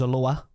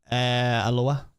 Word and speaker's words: Alloa: Rangers versus Alloa, which sounds like it's from Hawaii, not Scotland.